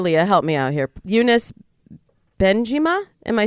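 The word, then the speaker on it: Younes Bendjima: name unis producer Lea help me out here unis been jima am I saying that right yeah you're saying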